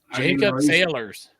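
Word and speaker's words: Saylors: on you anymore here's another running back Jacob Salyers East Tennessee State riding back to the Bengals hmm never heard of him sailors with a C J s-a-y-l-o-r-s is how they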